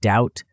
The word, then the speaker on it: doubt: Examples include the K in no, the B in doubt, the T in often, though this is changing in some dialects, and the P in psychology.